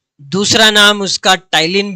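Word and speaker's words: ptyalin: नाम है, या टाइलिन, टाइलिन में पी भी आएगा, वो साइलेंट होता है, PTYLIN।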